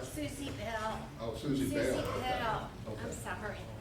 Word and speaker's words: Susie Bell: Sushil Gosling, Sushil, am I saying it right? Susie Bell Gosling. Is that what you're saying? Yes. Susie Shell, is that right? Susie Bell. Oh, Susie Bell.